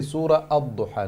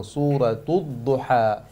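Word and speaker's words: سورة الضحى: So clearly the Shaykh mentioned that don't forget the ta marbuta with a dhamma. Make sure you pronounce it as well. Do not skip it. Do not say Surah Ad-Duha. No, Suratul Duha.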